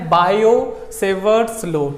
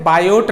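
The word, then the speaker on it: Biot–Savart law: Pronunciation कैसे करना है, बायो सेवर्ट्स लॉ, ठीक है, बायोट नहीं, टी साइलेंट है।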